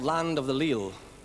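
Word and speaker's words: leal: called land of the leil the word le uh is spelled in Old Scots l e a l and uh it means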